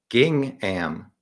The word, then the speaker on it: gingham: It's pronounced gingham.